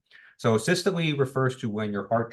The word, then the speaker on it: systole: So the first term, it's called systole, and so that E is actually a long E, so you do pronounce that, right? So systole refers to when your heart chamber is when your ventricles are contracting.